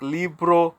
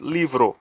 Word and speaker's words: libro: it's not pronounced like libro but libro leave it so the B sounds like V and Leivers libros for